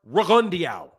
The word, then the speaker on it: Rigondeaux: Guillermo Rigondeaux's name is pronounced Rigondeaux.